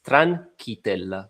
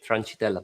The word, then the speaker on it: Tranchitella: I can tell Yes, for my surname, it's Tranchitella, but everybody's, especially from the US, they're saying Tranchitella, but it is what it is, doesn't matter.